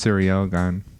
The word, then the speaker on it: Ciryl Gane: i think god's gone i heard people call him gun that's like i think it's sarah gone because he's french right yeah i heard it's pronounced cereal gun well you took french you should know i mean i think it is but everyone calls him sirogan okay but uh i